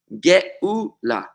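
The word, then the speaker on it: גאולה: Geula, which is exactly the same letters, Gimel, Vav, Lamed, Hey, with an Aleph in between. Geula. G-E-U-L-A-H. They're pretty much identical words. The Aleph is almost a silent letter.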